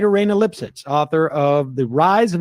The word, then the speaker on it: Lipsitz: get her name so her name is Rayna lip shits lipsitz it's spelled l-i-p-s-i-t-z lipsitz okay so Raina lipsitz I think that's how you say it and it's called the